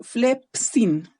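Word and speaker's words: φλεψίν: yo lo digo mal, uno dice flep y después dice el sin, por ejemplo. Pero debería ser flepsin, ¿ya? La P con la S deberían estar en la segunda sílaba y no en la primera, ¿ya?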